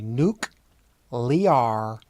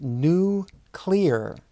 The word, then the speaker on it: nuclear: name of Bush used to famously mispronounce this word and called it new clear nuclear energy but it is nuclear nuclear energy it is energy